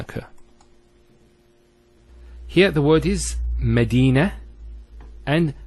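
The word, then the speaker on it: مدينة: Here the word is Medina and Khadija. Notice one thing, I didn't mention the ta. I actually pronounced the ta marbuta as a ha. Medina, Khadija.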